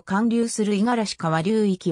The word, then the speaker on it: 五十嵐川: はであるが読みは五十嵐側ではなく五十嵐川であり濁らない発音である県内各地からは